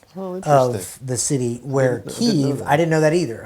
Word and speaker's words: Kyiv: And he said, Kiev is the Russian pronunciation, Kyiv is the Ukrainian pronunciation.